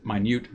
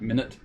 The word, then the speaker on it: minute: Because the vertical deflection due to gravity is expected to be minute, as opposed to minute, this is minute. Even though it's spelled the same way, it is minute, not minute.